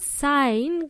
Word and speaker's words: sign: around here the word sign guys has a letter g in it we don't pronounce the g g sound we pronounce it as